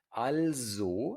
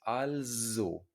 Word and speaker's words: also: Also significa entonces, entonces, also. Y se pronuncia con la z, con una z, also, also.